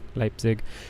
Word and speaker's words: Leipzig: Leipzig? Leipzig? I know I was saying it wrong. Leipzig.